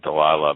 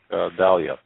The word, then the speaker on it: Dahlia: I always want to say Delilah, but it's how do you pronounce that? Black Dahlia.